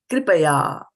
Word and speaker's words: kṛpayā: Mataji, I just want to ask the kr, K-R. Here it's kr, not kri, right? No, it's kri.